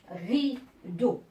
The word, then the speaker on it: rideau: Rideau. Alors, rideau, ne vous en faites pas parce que vous entendez O, mais ici, elle s'écrit avec E-A-U.